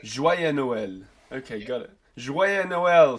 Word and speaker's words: Joyeux Noël: Joyeux Noël. Joyeux Noël.